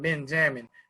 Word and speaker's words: Ben Jamn: And for those who want to keep up with my man, Ben Jamn, I'm going to call him Ben Jamn instead of Benjamin because it's spelled Benjamn, Ben Jamn.